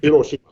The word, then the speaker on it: Hiroshima: Or Hiroshima, I think that's how you say it. Yeah. My daughter studies Japanese, and so she's trained me that Hiroshima. Right. You don't emphasize any one accent over another.